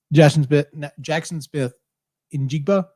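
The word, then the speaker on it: Jaxon Smith-Njigba: Jackson Smith Njigba.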